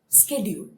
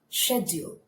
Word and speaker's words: schedule: the same word so british accent schedule schedule american accent schedule schedule so what did